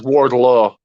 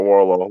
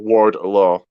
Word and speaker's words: Wardlow: It's Wardlow. Not Warlow. Wardlow.